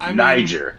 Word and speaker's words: Niger: That's how you pronounce it. Niger.